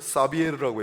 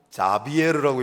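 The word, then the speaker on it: Xavier: 프란시스 사비에르라고 했지만 이분은 프란치스코 사비에르라고 읽기도 하고 자비에르라고 읽기도 하고 스페인식 발음으로 하비에르라고 읽기도 합니다. 프란치스코 하비에르는 스페인 발음으로 읽은 거예요. X로 시작하기 때문에 그걸 스페인어식으로는 하비에르라고 그러고, 사비에르라고도 돼 있고, 그 다음에 자비에르라고도 해요. 다 동일 인물입니다.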